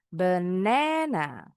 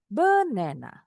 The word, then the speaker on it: banana: Jadi, ada stressing the syllable di suku kata kedua. Enggak melulu kedua. Nanti ada yang pertama, ada yang terakhir. Tergantung nih penekanannya di mana. Berarti suku kata kedua kita bacanya lebih tinggi. Banana. Banana. Kalau salah naruh penekanan suku kata kedengarannya aneh. Contoh umpama taruh di awal benena atau di akhir benena. Aneh tuh kedengarannya.